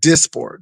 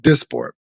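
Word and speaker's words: Dysport: It's spelled D Y S P O R T, but it's it's pronounced as abundantly said Disport. That's the That's the name of it. Disport.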